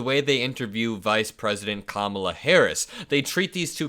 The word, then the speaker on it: Kamala: does not do but when you pronounce her name correctly it creates a rhythmic first syllable think about it comrade kamla comrade Kamala versus the way Donald Trump says it comrade Kamala it doesn't quite make